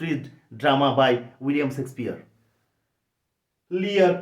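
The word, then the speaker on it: Lear: লিয়ার, কিং লিয়ার, রাজা লিয়ারের গল্প, এল ই এ আর, লিয়ার, ইয়ে, এখানে দেখো লি, ই, ইয়া ইয়া, লিয়ের, ইয়ের উচ্চারণ ইয়ার মতো হচ্ছে, যদিও ইয়ের সাথে যুক্ত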